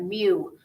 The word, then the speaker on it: mu: symbolize it with a greek letter m we pronounce that mu like u like the sound of kitty makes